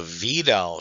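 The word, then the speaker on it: Widal: The vidal test. I know it spelled white, but this is German and therefore the V I mean the W is pronounced like uh V.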